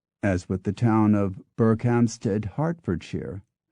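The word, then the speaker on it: Berkhamsted: with the town of berkhamstead hartfordshire in which the first word is pronounced Burke but the second is pronounced Hart it ALS also survives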